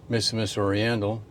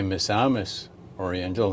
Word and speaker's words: Misamis Oriental: little town of Hassan missus Oriental or I should say misamis Oriental that's how you pronounce it and so I hope